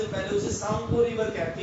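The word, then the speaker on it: Tsangpo: आसाम से पहले उसे सांगपो रिवर कहते हैं। सांगपो, टी साइलेंट हो जाता है, SANGPO, सांगपो ऐसे बोला जाएगा, लेकिन वो टी साइलेंट हो जाता है, सांगपो river, सांगपो, SANGPO, सांगपो river.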